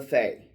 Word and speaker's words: fae: We are of course talking about fairy or the fay. F A E F AE is usually how you spell it.